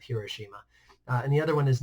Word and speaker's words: Hiroshima: Japan first one is Hiroshima or her Oshima depending on how you pronounce it depending on where the emphasis is I usually just go with Hiroshima and the other one